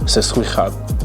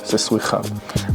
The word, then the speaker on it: Seswichab: a little bit, and that's pronounced Seswichab, like that, Seswichab.